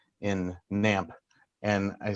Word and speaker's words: GNAMP: that people mispronounce it they don't know that the g is silent and i kind of